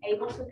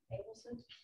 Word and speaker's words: Ableson: Ableson, A-B-E-L-S-O-N, Ableson.